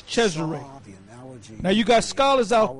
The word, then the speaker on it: Cesare: We call him Caesar. The real way to pronounce his name is Cesare.